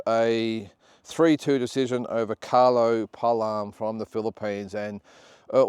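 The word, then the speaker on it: Paalam: The Filipino Palam, that's how you pronounce it, Palam.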